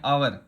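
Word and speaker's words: hour: 20 kilometre an आवर, आवर, हावर नहीं है आवर, 20 kilometre प्रति घंटा।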